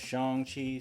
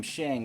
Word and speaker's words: Shang-Chi: accustomed to that and then i realized it's pronounced shang chi so i keep trying to correct myself but every so often i slip so yeah if you hear me calling him shang that's incorrect and i i missed it it's